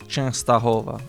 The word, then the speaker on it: Częstochowa: Yes, there is Częstochowa. Okay, so it's got the E with the little tail, so Częstochowa. Częstochowa. How does this get pronounced? Częstochowa.